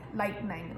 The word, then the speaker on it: lightning: It feels like there should be an E in there, but there is not. So it's light and then ning, lightning, lightning. It actually quite helps if you say it like me, because I have quite a sort of blunt way of saying it with my accent, lightning. You don't really hear that E sound at all, so lightning, lightning kind of thing.